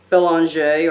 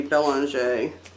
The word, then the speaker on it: Belanger: This is my vampire book from Michelle Belanger, or Bellinger, however you want to say her name. I say Belanger.